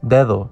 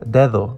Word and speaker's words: dedo: We see this difference clearly in the word dedo. Because the first D is after a pause, we make the hard D sound.